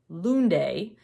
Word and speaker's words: Lunde: the ocean by Maja Lunde uh Luna books told me that in Norwegian you pronounce the E it's not silent so I'm hoping that